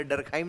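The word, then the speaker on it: Durkheim: तो जब एमाइल लिखोगे तो डरखाइम भी लिखना, और जब एमिल लिखोगे तो दुर्खिम लिख सकते हो आप, ठीक? लिख लीजिए, दोनों एक्सेप्टेड एक्सेप्टेड शब्द हैं, एमिल दुर्खिम ने समाजशास्त्र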